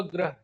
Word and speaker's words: ग्रह: इसके साथ में प्रोनाउंसिएशन, तो क्रम, इसको मैं बोलूंगा क्रम, इसको मैं बोलूंगा ग्रह। तो ग्रह, ग के बाद र की मात्रा आएगी, यहाँ पर क के बाद र की मात्रा आएगी, क्र।